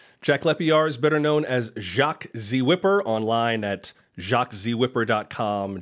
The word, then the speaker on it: Whipper: think I you did you included the H which is the most important thing it's not jaxy wiper yeah yeah you why